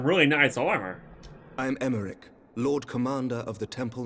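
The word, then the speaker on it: Aymeric: I called him Imeric. Because it's a Y. So it's Emeric. Means the Y is silent, just like freaking Alpha Nu.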